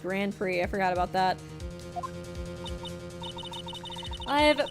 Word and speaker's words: Grand Prix: I see oh yeah Grand prick say pronounced Grand Prix I forgot about that